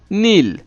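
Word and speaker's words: kneel: হাঁটু গেড়ে বসা, হাঁটু গেড়ে বসা মানে হচ্ছে নীল, নীল মানে হচ্ছে হাঁটু গেড়ে বসা। এটার স্পেলিংটা কিন্তু একটু ভিন্ন আছে, অর্থাৎ এখানে কে দিয়ে শুরু হয়েছে, KNEL, নীল। এখানে কে লেটারটা সাইলেন্ট লেটার, KNEL, নীল।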